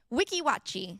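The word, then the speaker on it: Weeki Wachee: But Addie brought us back some Can you pronounce it the right way? Wiki Watchi.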